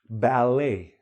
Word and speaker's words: ballet: Ballet, ballet, silent T.